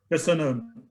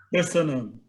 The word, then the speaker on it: Köszönöm: Köszönöm. Besenem? Köszönöm.